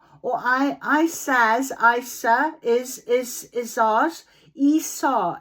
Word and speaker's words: Isa: Esau, it's pronounced as in ice.